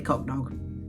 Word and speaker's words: Cocdog: I messaged the dude and I was like, how do you pronounce the name of your company? He sent me a voice note. Definitely Cocdog.